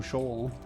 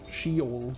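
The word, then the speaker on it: Sheol: Question is, would I have gotten through Shaw? Shol, sorry. Got to got to say it correctly. I'm pretty sure she is correct at least. I'm like 99% sure that I read at some point it's Shol, right?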